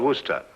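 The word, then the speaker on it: Worcester: freddie calls it something else too doc but it's spelled w-o-r-c-e-s-t-e-r sister oh yes i see yes lord wooster mm-hmm his mind be fit to be hogtied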